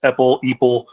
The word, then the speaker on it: EPEL: Some people think I'm saying Apple whenever I say it, but no, it's EPEL.